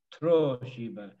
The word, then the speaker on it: Troshiba: Like all of these days of the week, the accent is on the O. Khoshiba. Troshiba. And accents always go with a vowel.